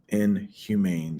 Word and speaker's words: inhumane: either people or animals inhumane that's how it's pronounced the e at the end next one self-inflicted they